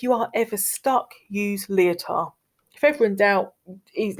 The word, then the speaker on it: Lyotard: Lyotard, don't pronounce the D, it's a silent D.